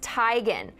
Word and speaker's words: Teigen: dropped another truth bomb her last name is pronounced Tigan she said she stopped